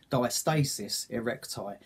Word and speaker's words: diastasis recti: Anyway, I thought I might have had a hernia, but it turns out it's called diastasis recti. Or some people may pronounce it diastasis recti.